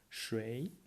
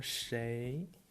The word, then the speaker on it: 谁: 水 or 谁, both pronunciations are correct ones, so doesn't matter.